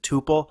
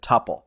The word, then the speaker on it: tuple: way to pronounce this you can go either way from what I understand Guido van rasum does pronounce it tupal but there's just as many python programmers myself included who tend to pronounce it topple regardless of pronunciation let's